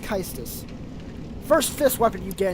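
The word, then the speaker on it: Caestus: Kystis, or Cestus. I believe it's pronounced Kystis.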